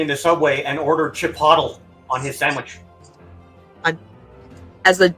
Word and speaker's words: Chipotle: He's like, "I want Chipotle." They're like, "Oh, you mean Chipotle." He's like, "Is that how it's pronounced?"